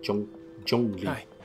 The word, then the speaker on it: Zhongli: Oh, Zhongli. Or actually, Zhongli is how you pronounce his name.